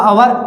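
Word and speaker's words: hour: अब और देखना है तो यहाँ पर देखिए ओवर, इसको हवर नहीं पढ़ते, साइलेंट है, क्या पढ़ते हैं, ओवर। ये हो गया आपका अवर, तो क्या आ रहा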